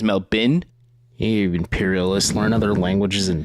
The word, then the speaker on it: Melbourne: and it is pronounced Melbourne it is not Melbourne you you silly Americans it is Mel bin imperialists learn other languages